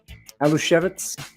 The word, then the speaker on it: Aluskewicz: I'm going to say Alo shevitz is am I okay with that that yes that's a good polish pronunciation okay of course Al